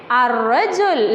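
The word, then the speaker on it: الرجل: If I am adding alif lam, I can read it ar-rajul. Lam is silent.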